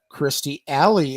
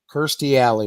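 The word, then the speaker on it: Kirstie Alley: age 72 right uh Christy alley at 71. thirsty oh that's right you're right my bad I mean I've say that every time I say her name that is the most mispronounced name in the history of TV Kirsty alley my bad uh Bob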